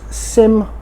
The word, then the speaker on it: SYM: These are normally used at SYM events and shows where SYM are showcasing their products or displayed in dealerships. I keep saying SYM, I should say SYM, that is the correct way to pronounce it.